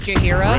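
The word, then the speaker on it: Jaheira: It's Jahira.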